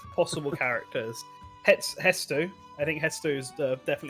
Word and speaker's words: Hestu: Yeah, I don't know if it's spelled it's- Hetsu or Hetsu. Hetsu. No. I'm getting mixed messages by Google. It is Hestu.